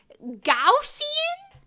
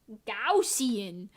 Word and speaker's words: Gaussian: now hold on guys how do you pronounce Gan named after Carl Gus Gau G gausian that doesn't sound right Carl Carl Carl why Carl no remove G then out gajin gajin blur gaussian blur gausian I'm never going to get over this in my life do I pronounce